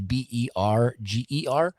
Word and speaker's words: Berger: It's Tyler Berger, Tyler, and then Berger is Berger. So sounds like burger, like hamburger, but it's not spelled the same.